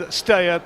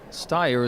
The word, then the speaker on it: Steyer: And Steyer, that's easy.